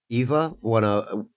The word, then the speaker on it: Ewa: Eva, Echo knows who I'm talking about. She's a chatter. She's around. It's you mean EWA? Ewa? It's Eva. Yeah, but it's pronounced Eva.